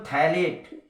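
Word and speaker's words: phthalate: अगर हम सेकेंड देखें तो सोडियम थैलेट, पीएच है, थैलेट H साइलेंट है, पीएच सोडियम थैलेट।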